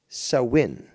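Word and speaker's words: Samhain: creation of Christianity and although spelled s-a-m-h-a-i-n is pronounced sowin so this Festival is where Halloween gets its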